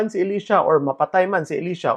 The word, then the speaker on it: Elisha: elisha's name correctly because that is the Hebrew pronunciation of the Hebrew word na pangalan ni Elisha it's not Elisha pareho sa mga pagpronounce